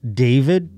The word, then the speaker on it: d4vd: D4 VD is supposed to be David. The four is an A.